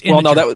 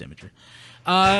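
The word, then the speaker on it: Imgur: you guys were like, "How do you say this?" It's Imager. Well, it was Rob who wasn't familiar with how to say it. Oh yeah, I was like, no, it's Imager.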